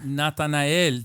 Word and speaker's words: Natanael: Nathan, how do you pronounce Natanael. Natanael.